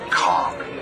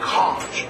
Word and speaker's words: conch: It's it's pronounced conch, not conch. They're conch fritters, not conch fritters. Think of me conking you over the head.